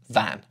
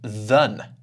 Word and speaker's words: than: Actually, I'm not saying 'than', I'm saying /ðən/.